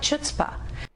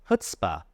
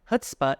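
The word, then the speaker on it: chutzpah: has a lot of chutah. It's not pronounced chutzpa. It's pronounced hutsp. h. The emphasis is on the first syllable. Hutz. Hutspa is a yiddish word that has been adopted into English.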